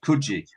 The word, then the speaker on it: Coogee: I got out of there and came back to the Cooge. Just on the Cooge, right? I'm intrigued what you all think. So Coogee, I'm being told, is always pronounced Coogee. Yeah, it's Coogee.